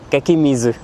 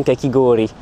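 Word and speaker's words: かき氷: Et en fait, j'avais demandé du kakemizu. Et là, la caissière m'avait repris en disant kakigori.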